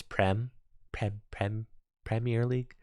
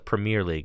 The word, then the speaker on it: Premier League: Europeans in the chat started telling me I was pronouncing Premier League wrong. They're like, sorry, it's Premier League. Tricky Jim, sorry, you can't call it the Premier League. It's the Premier League, okay?